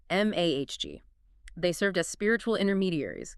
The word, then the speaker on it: magi: At the top were the priests, later known as the magi, pronounced m ahg.